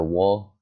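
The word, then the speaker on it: を: You'll understand what the O is later. Or the wo, if you pronounce it like O, just like the O onegaishimasu, kudasai, right? You pronounce it like O, but it's actually wo in hiragana.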